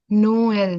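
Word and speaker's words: Noël: Both the vowels have to be have should be pronounced separately. Noel.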